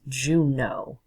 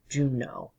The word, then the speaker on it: Juneau: It's like the month, June, and then A-U on the end, and E-A-U in English is pronounced like O. Comes from French, so that's Juneau. Juneau.